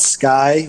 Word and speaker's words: SCCY: here in florida there is a company called sky which a lot of people mispronounce that name but it's sccy and they